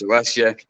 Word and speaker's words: Alessia: do I say it I said it wrong earlier four times I've said it wrong we almost certified that she'd have her name uh misspelled or said wrong throughout her life because it's Alesia and then she's got